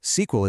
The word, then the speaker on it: SQL: Well, you call SQL. Pronounced SQL.